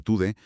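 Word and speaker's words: Tudeh: Cayeron grupos de la izquierda marxista como el Partido Comunista TUDE, que se pronuncia TUDE, y grupos como los Fadayán.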